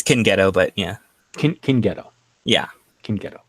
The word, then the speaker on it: Cingeto: Am I pronouncing that right? It's Cingeto, but yeah.